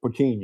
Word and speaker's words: poutine: So, poutine is how it's how they say it.